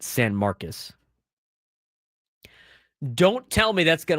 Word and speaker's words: San Marcos: But don't tell me like getting Texas State in San Marcus, it's it's spelled San Marcos, they call it San Marcus.